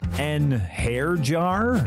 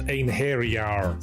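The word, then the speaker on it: Einherjar: An hair jar? It's pronounced ein hairyar.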